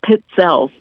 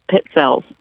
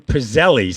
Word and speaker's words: pizzelles: Just think of the word pizza. 2 Z's in Italian is T-S. Okay. So it's pizzelles, like pizza, pizzelles.